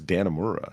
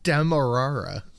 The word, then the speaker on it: Demerara: I always thought it was Dannemora. How do you say it? It's Demerara. Demerara. Okay. There's no N in it.